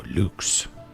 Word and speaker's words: Lux: Song is called Lux or Luke if you're pronouncing it with proper Latin.